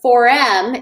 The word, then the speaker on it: Forem: But the next one is in July, and the 4M, it's spelled FOREM. It's named after my daughter, For Emerson, because our mission is to move 1 million women and underrepresented minorities up into leadership.